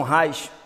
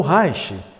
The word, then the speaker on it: Reich: Então o Reich, que muita gente inclusive lá fora não pronuncia assim, né? Reich. Reich é bem brasileiro. Quando nós falamos assim, o Reich. Por essa linguagem mais europeia seria mais Reich. Mas para nós é o Reich.